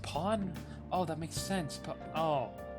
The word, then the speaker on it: pan: pan today put on oh it's pronounced Pawn oh that makes sense